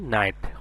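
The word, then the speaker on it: knight: যেমন যেমন এখানে আছে কে এন আইজি এসটি এখানে কি এর সাউন্ডটা আসবে না অর্থাৎ কে সাউন্ডটা সাইলেন্ট থাকবে এন আইজি এসটি নাইট কে এন আইজি এসটিটা হবে কি নাইট যার অর্থ হছে যোদ্ধা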